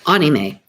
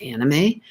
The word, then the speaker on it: anime: So anime, I have been pronouncing it wrong all these years. I was pronouncing it anime, like animation, but it is actually pronounced anime, AHKNEEMAY.